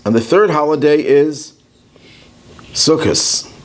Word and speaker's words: Sukkot: So the first holiday is Pesach, the second holiday is Shavuos, and the third holiday is Sukkot, or Sukkot, if you use the Sephardic pronunciation.